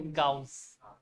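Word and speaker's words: Gauss: और ऐसा यूनिट भी बताई थी क्या, जी फॉर गूज नहीं बोलते, गाउस, गाउस बोलते हैं, या फिर गॉज बोल दो, ठीक है, गूज नहीं बोलते इसको, गूज बम्स है, या तो गाउस बोलते हैं, बेटर प्रोनाउंसिएशन है गॉज, गूज।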